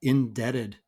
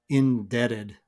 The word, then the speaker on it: indebted: this word one is indebted indebted now you may have noticed that I'm pronouncing the T in this word as a D sound indebted indebted now actually